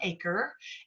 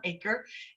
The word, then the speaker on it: Achor: It's from an author named Sean Aker, and it's spelled Achor, Sean Aker, and it's called The Happiness Advantage.